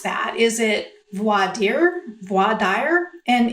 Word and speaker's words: voir dire: It's voir dire is the way I learned it. However, I do have a penchant toward leaning to the Texas pronunciation I've heard, which is voir dire.